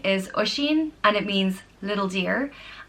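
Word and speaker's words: Oisín: now first name is Oshin and it means little deer and it's pronounced oh Sh een Oshin and it's spelled o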